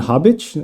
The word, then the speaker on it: Habic: r for robin today my guest is bogdan hobbitch am i pronouncing your name correctly that's a completely correct